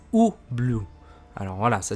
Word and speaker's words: Ubloo: pardon ça se dit paris blue ça se prononce ou blue alors voilà ça s'écrit différemment mais ça se